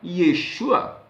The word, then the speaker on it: Yeshua: Mas Jesus para nós, como nós pronunciamos, em Jerusalém é Yeshua. João, como nós pronunciamos, em Jerusalém, ou no hebraico, é chamado de Yohanan.